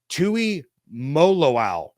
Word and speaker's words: Tuimoloau: I even looked up how to pronounce it before I started recording this, which is really, really frustrating. But it's Tui Moloau from Ohio State.